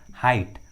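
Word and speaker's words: height: थॉट, drought, उसी तरह brought, हाइट, brought, हाइट, देखिए दोनों इंग्लिश वर्ड्स में भी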